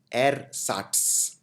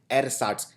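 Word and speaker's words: ersatz: लिए जिसको बोलते हैं एर साट ये थोड़ा सा डिफिकल्ट शब्द है प्रोनाउंस करना एर साट ई आर एस ए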